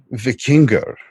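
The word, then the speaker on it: víkingr: you're saying about vikings the word vickinger is the proper pronunciation of it when it came into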